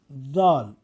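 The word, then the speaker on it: ذال: However, to pronounce Dal, we want the tongue tip to touch only the upper frontal teeth.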